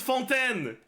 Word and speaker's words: Fontaine: the silent T is not a thing in fonten it's not full n it's fonten is 40 to 50K normal attacks